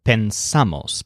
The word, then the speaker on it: pensamos: It's just pensamos because the stress is on the a vowel.